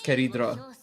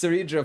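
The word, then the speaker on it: Cerydra: I love how in Japanese it's Keredra. It's Seridra for us, of course.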